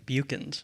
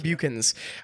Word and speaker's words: Beuckens: how do you say your last name buchens buchins buchens um if you have watched pretty much any